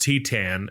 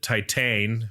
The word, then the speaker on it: Titane: So, I we just figured out it's pronounced Titan. I guess we were I mean I pronounced it Titan because that's what it looks like, but it's a French movie, right?